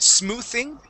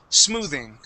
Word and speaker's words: smoothing: go okay so um you had said smoothing using a uh unvoiced th this is a voice th sound we say smooth smoothing good one more time